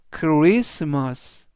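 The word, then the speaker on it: Christmas: 단어에는 CH 들어 있는데 CH 크 발음이납니다 그래서 전체적인 발음은 크스마스 크리스마스 크리스마스라고 발음하시면 되겠고요 품사는 명사 뜻은 크리스마스라는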